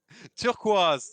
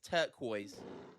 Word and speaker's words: turquoise: say it in English how do you say turquaz yeah it's turquoise turquoise okay okay turquoise yeah I I prefer the French pronunciation though sorry greenish blue color